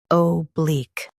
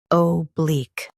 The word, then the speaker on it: oblique: Stress bleak and keep O soft.